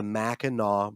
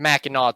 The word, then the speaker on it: Mackinac: But the way it's spelled is Mackinac. And I don't believe there's any language where the NAC makes the NAW noise.